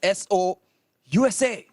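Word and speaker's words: Sousa: kept telling the Americans during the prom, it's S O USA.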